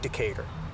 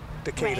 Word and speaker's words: Decatur: And cicada almost rhymes with Decatur. Decatur Right.